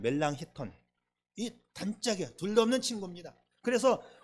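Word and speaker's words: Melanchthon: 단짝 친구인 멜랑 힙턴 미국식으로 발음한 발음하면 멜랑쿠톤인데 저는 미국에서 공부했기 때문에 멜랑크톤 멜랑커톤 그렇게 늘 읽었는데 이제 독일 말로 하면 멜랑 힙턴이 단짝이야 둘도 없는 친구입니다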